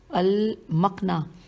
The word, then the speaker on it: المقنع: اور یہ ہے حوالہ المقنع صفحہ نمبر 446۔ دوبارہ پڑھتی ہوں، ہجے کر دیتی ہوں، الف لام میم قاف نون عین ہے، اور صفحہ نمبر 46